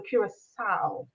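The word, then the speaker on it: Curaçao: So you pronounce the C as an S. Just remember that. Yes. The last C in CAO, you pronounce it as an S. So Curacao.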